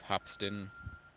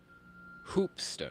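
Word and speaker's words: Hoopeston: Columbus, Ohio to Hopston, Illinois. Hope or Hopston. Hopston. Is that how you say it? How do you spell it? Hoopston. Two O's. Hoop.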